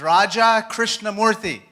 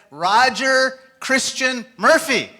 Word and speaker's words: Raja Krishnamurthy: When I first ran for office, I said, "Hi, my name is Raja Krishnamurthy." And the person in Chicago looked right back at me and said, "Roger Christian Murphy."